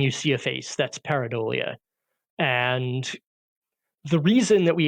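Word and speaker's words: pareidolia: to I'm I'm not sure I'm going to pronounce this correctly um parolia paradia yes paradia is when you look at a thing that's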